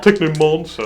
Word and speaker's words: Technomancer: Technomancer. That's how we pronounce it here. He's firing 2 shots. They're firing 2 shots at the Technomancer. 2 pluses to hit. There's a silent R. Mancer. Not a monster.